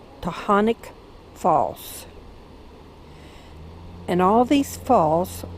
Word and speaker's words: Taughannock: waterfall and this one I believe is pronounced to Hanukkah false and all these